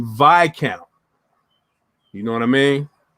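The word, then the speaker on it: Viscount: a timex vi count i was rudely uh corrected on this on my channel when i called it a vids count because it's spelled v-i-s-c-o-u-n-t it's actually vi count you know what i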